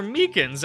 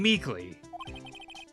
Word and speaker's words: Meekins: Actually, Officer Meekins at the detention center told us. That poor little doggy. Poor guy. I keep getting his name wrong and calling him Meekly.